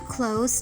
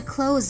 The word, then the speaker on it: close: sentence they were too close to the door to close it now at first they may sound similar but we were taught that the first close the adjective close it's pronounced with an s and the next one